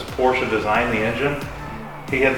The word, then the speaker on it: Porsche: or Porsche, one guy, you mean Porsche? I'm like, he used to have a shirt that said Porsche. It's a 2-syllable word.